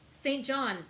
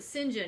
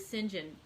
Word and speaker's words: St John: that if you see if it's the british pronunciation of saint john it is sinjin and so i've been